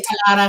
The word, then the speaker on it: Talara: And I say Talara because I roll my R's.